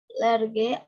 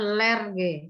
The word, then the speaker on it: large: Large outdoor fires to keep away bad spirits who make appear in the night. Large, bukan lerge. Salah tadi bacanya. Large. Bukan lerge ya.